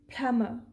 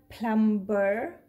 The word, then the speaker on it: plumber: piling is plummer plummer now why i'm saying this word as plummer why not plumber plumber so here are some reasons for that let's first understand those reasons then we will analyze this word now please look at here this word is calm and this is boom did you hear the burst sound at the end no because whenever b is followed by m we do not pronounce